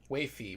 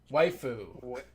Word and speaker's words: waifu: And apparently I pronounced waifi wrong. Waifu.